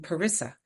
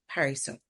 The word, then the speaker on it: Parissa: Too often I would say I'm Parissa, and I now much more intentionally call myself Parissa.